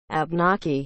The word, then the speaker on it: Abnaki: language spoken by the abnaki and penobscot abnaki is spelled a b n a k i abnocky you